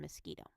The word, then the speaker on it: mosquito: But in some words, it can say ka, like in mosquito.